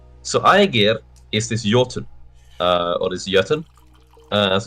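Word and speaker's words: jötunn: I get um so I give is this yotun uh as it's pronounced of the C so this C giant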